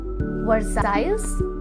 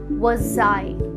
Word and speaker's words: Versailles: वर्साइल्स? Not exactly. The actual pronunciation of this city is Versailles. Versailles. Yes. Silent letter होने की वजह से ये वर्साइल्स नहीं होता, वर्साई होता है।